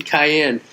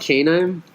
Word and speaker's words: cayenne: Is that the way you pronounce cayenne? Cayenne. Is that what it's called? Canine? It's cayenne.